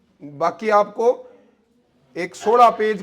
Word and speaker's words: baulk: इसे कहते हैं कौन सा बॉक्स, सिटिंग बॉक्स।